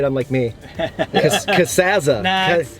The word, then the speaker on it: Casazza: Casazza. Nah, it's Americanized, Casazza. whatever. I'm just gonna keep leaning into you being Casazza. Like, however you said it real sucks. It's Casazza. It's Casazza.